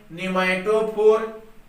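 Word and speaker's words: pneumatophore: ध्यान देंगे, P silent है। न्यूमैटोफोर।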